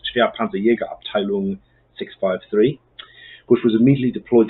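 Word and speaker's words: schwere Panzerjäger-Abteilung: They were all issued to the 1st Company of the 653rd Heavy Panzer Battalion, also known in German, that's pronounced Schwerpanzerjägerabteilung 653, which was immediately deployed to Italy in response to the Allied landings at Anzio.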